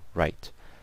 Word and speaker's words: write: so the word W-R-I-T, and obviously the E is silent, so write.